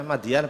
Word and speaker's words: Madyan: Di sini membacanya Madyan apa? Madiun ya?